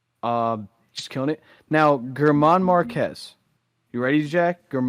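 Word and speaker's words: Germán: It's gotta be Herman.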